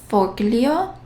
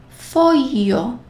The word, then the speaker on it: foglio: G plus L has a very different pronunciation. How would you read this word? Foglio. GL, so we will pronounce it as foglio.